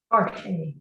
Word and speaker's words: Jorge: Jorge. Jorge. Jorge. You've got two H sounds.